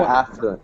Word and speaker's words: affluent: affluent affluent affluent affluent the accents on the on the a affluent affluent good yes that's the proper pronunciation if you just have this word it's fluent fluent fluent okay yeah but that's different than affluent so you don't want so you don't say affluent don't say that don't say affluent affluent